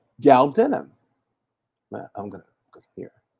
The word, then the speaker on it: galbanum: And that has galbanum, galbanum, galbanum. That's how you say it. Galbanum.